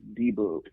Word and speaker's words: Dybbuk: Yeah, some people call it a Dybbuk. What is that exactly? The original Hebrew is Dybbuk.